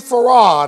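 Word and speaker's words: Fard: individual a gentleman by the name of WD Farrar that's how you pronounce his name even though his name was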